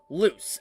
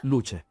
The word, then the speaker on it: Luce: Honestly, when I first read this, I thought you pronounced it like Lucy, but obviously I'm wrong.